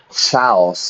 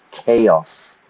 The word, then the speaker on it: chaos: Notice that now, yeah? Not chaos or anything. It's a hard K sound. Chaos. Chaotic.